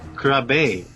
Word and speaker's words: Krabbe: it what are you I always actually think it's difficult to pronounce my last name in English but it should be like krabi yeah the Dutch of